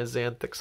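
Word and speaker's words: Xanthyx: Ah, I love my Xanthix Harvester. That's how you pronounce it.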